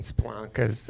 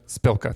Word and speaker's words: Spilka: uh and um rep Mariano's office and Karen splonka's uh spelanka's how do you say spilka spilka thank you um so anyway the the bottom